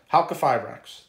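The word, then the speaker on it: Halqifibrax: Halkifibrax. That's how you pronounce it.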